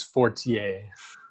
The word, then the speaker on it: Fortier: then uh francois uh fortier uh you might pronounce it he's french canadian so it's fortier okay 48 uh he's